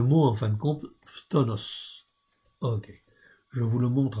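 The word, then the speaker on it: φθόνος: Donc ici, le mot, c'est le mot en fin de compte, phtonos. Ok, je vous le montre en fait ici, vous l'avez là. C'est pas tomos, c'est tonos, phtonos. Ok, voilà comment ça se prononce.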